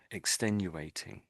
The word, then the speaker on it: extenuating: So, so it's extenduating extenuating extenuating.